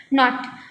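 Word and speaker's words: knot: यूज़ करते हैं, and second नॉट में जो के है वो साइलेंट है, दैट्स वाई उसको भी हम क्या प्रोनाउंस करते हैं नॉट।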